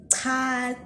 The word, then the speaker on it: cha: So let me teach you how to pronounce the cha sound, and let's start off with this. Cha, che, chi, cho, chu.